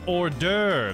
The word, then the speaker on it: hors d'oeuvre: Oh, it's hors d'oeuvre. That's how you spell it.